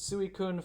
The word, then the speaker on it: Suicune: I remember in Gen 2 the voice actor for Eugene pronounces Suicune phonetically, so Suicune.